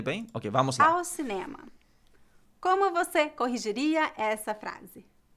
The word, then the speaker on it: cinema: Okay, there's an accent on the ne.